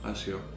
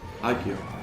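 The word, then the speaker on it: Accio: Άσιο. Οκ. Για να ακούσουμε και πώς προφέρεται κιόλας. Άκιο. Οκ, sorry.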